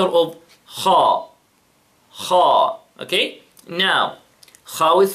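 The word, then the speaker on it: خ: Then, the letter of kha. Kha. Okay? Now, kha with fatha, kha. Notice how I, you know, make my mouth, right? My mouth, subhanAllah, with the kha is, you know, strong, right?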